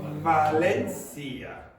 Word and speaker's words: Valencia: Valencia. That's how we would say it.